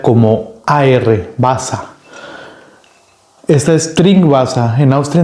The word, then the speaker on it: Wasser: Wasser es agua.